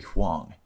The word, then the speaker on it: Huang: Battle for Dream Island, abbreviated BFDI, is an animated web series created by brothers Michael and Carrie Huang.